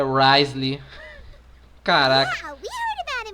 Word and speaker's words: Wriothesley: É Risley? Interessante. Pô, mó nome complicado e a pronúncia só é Risley.